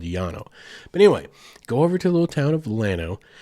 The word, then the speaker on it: Llano: It's probably supposed to actually be pronounced Llano because it's two L's, right? In Spanish, two L's. It's a Y sound. Yeah. But everyone there calls it Llano. So we're going to call it Llano because that is the colloquial thing to say.